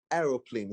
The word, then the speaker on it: aeroplane: And so we're forced to pronounce it aeroplane so that the spelling will be much more easier for us, because we're trying not to do too much of intonations or phonetics. We're just pronouncing it as we can spell it.